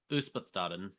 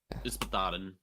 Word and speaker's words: Yspaddaden: Yspaddaden. Yspaddaden is the pronunciation.